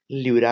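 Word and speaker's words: pleura: membrane को क्या कहेंगे लूरा कहेंगे पी को साइलेंट कर दीजिएगा पेरिकार्डियम तो हार्ट का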